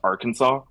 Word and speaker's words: Arkansas: spelled Arkansas but pronounced AR the Aransas but pronounced Arkansas it is that's one of the more pathetic